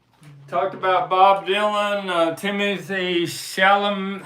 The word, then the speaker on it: Chalamet: Talked about Bob Dylan, Timothy Chalamet. How do you say his name? Chalamet.